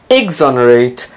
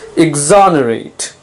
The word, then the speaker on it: exonerate: the day is exonerate notice the stress is on the second syllable it's not exonerate it's not exonerate it's exonerate it can have two meanings